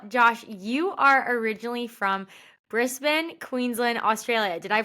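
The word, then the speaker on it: Brisbane: that's good well Josh you are originally from brisban Queensland Australia did I pronounce that right there you go you you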